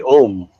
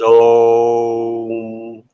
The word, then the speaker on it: Om: When I was in India, I was taught the proper way to say Om. I always thought it was Om, and they said, "Oh no!